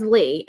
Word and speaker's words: Leigh: No, it's Leigh.